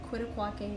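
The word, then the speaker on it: Quitaque: It's called Caprock Canyon, and it's in Quitaquaque, Texas.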